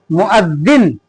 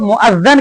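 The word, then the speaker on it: مؤذن: मुअज्जिन, मुअज्जिन का माना होता है अजान देने वाला। बहुत सारे लोग मुअज्जन कहते हैं, ये गलत तलफ़ुज़ है, सही प्रोनाउंसिएशन मुअज्जिन, ठीक है।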